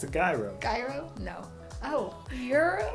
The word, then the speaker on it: gyro: Because it's Greek. Gyro. Euro. Wow. Yeah, it's called euro.